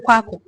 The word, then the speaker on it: Kweku: Since they couldn't pronounce the Kweku properly, they anglicized it to Kwaku.